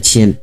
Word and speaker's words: 阡: 思，这个字呢就念阡。